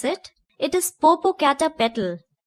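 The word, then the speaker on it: Popocatépetl: Father, I know how to pronounce it. It is Popo Cata Petal.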